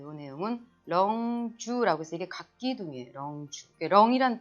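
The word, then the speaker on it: 棱柱: 자, 이 내용은 렁주라고 해서 이게 각기둥이에요.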